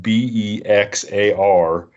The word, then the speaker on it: Bexar: So Rod is from Bexar County in Texas, but it's spelled Bexar. So if you're going to go look him up on Instagram or anything, you better look it up as Bexar, but it's Bexar County.